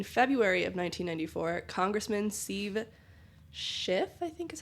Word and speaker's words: Schiff: So in February of 1994, Congressman Steve Schiff, I think is how you pronounce his last name.